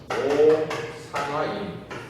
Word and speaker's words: 오산화인: 오산화인 이렇게 읽어요. 알겠죠? 읽을 때 뭐라고 읽는다고? 오산화인 이렇게 읽어요. 산화인 이렇게 안 하고 오산화인 이렇게 읽어요.